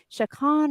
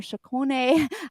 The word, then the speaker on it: Chaconne: I started playing your piano solo, Chacon or Chacone. There's a few different pronunciations from your collection.